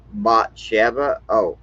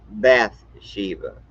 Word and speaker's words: Bathsheba: And Matthew includes 5 women: Tamar, Bathsheba, y'all say Bathsheba, but it's actually pronounced Bathsheba.